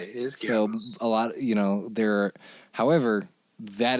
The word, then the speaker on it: Goebbels: And so it's like the name that most Americans mispronounce as Goebbels, right? It's not how you say it. It's spelled in Romanized English. It's G-O-E, B-B whatever. The O-E means that originally it was one character, which was an O with an umlaut, and that's Goebbels, right?